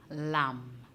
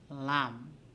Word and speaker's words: lamb: letter for the word lam silent b the b is silent in lam tu you have w